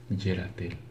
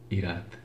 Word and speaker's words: Yerathel: Si has nacido del 3 al 7 de agosto, tu angelogenio es Yeratel. Su nombre significa Dios que castiga a los malvados. También se puede pronunciar Irat. En arameo se pronuncia Yud Resh Tav.